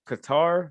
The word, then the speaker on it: Qatar: wasn't that hot but qatar man cutter as they pronounced it that place was